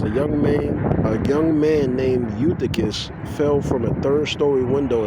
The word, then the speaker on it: Eutychus: Okay, Eutychus. All right. Raising Eutychus. Yeah, Eutychus, this was an Israelite. And that's in Acts, the 20th chapter, verses 9 through 12. It says a young man named Eutychus fell from a third-story window and died.